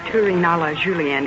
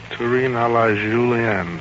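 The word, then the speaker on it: Terrine à la Julienne: Except your pronunciation of Terrine a la Julienne. It's a little bad yet. Yes, I know. Terrine a la Julienne. Terrine a la Julienne.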